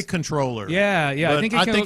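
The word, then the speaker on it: comptroller: yeah yeah big time Big Time the correct pronunciation is controller w why do they spell it like that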